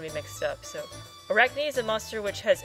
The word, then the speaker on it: Arachne: So this is the Arachne. How do you pronounce that? Arachne. Arachne. Right? Yeah, It's so from arachnid.